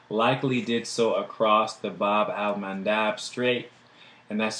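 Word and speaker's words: Bab-el-Mandeb: Landmark land mass likely did so across the Bob almandab straight and that's spelled b-a-b Dash Al Dash m-a-n-d-a-b so that's the Bob almond Dobb straight separating present-day Yemen from Djibouti so that's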